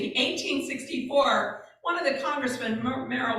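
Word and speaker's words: Morrill: one of the congressman Merrell was his last name moral I guess I should say correctly moral I believe is how you pronounce it he said let's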